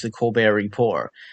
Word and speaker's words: The Colbert Report: of the reasons I like the Daily Show is because it does talk about politics, which the Colbert Report does not seem to have.